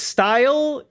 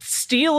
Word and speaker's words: Steil: Wait, his name is His name is Style, but Steel is right there. Why would Why would you pronounce it that way?